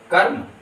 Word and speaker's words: कर्म: हो जाता है और यह र जो है वह कर्म हो जाता है ये शब्द का सही उच्चारण होगा कर्म ठीक उसी प्रकार से